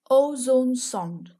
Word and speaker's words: ozone sonde: meteorologists there ever was ozone song say it like this o zone songed again o zone song